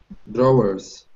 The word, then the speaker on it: drawers: on the top right drawers yeah but you can say it with one syllable drawers drawers drawers drawers that's it where